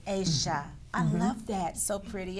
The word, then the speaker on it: Aysha: Aysha. Aysha. I keep wanting to say Asia, but it's Aysha.